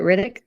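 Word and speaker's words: Ridoc: Riddick.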